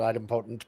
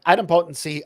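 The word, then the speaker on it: idempotent: hear different people pronounce it differently i've always pronounced it item potent but but adam potency of your receivers of your consumers of the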